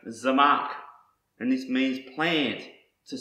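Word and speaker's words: צמח: Another word I want to show you is pronounced Zamak, and this means plant, to sprout, growth, to spring up and expand.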